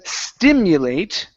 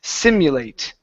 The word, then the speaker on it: simulate: Instead of stimulate. Okay. There's no T at the beginning. This is simulate. I'm sorry. It's a completely different word.